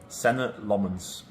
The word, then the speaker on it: Senne Lammens: How would you pronounce your name? Senna Lmens.